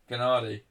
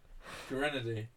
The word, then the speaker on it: Gennady: Gennady. Gennady. I said it right. Is it Gennady? No, you said it right first time. I can't remember how you said it. Grenady.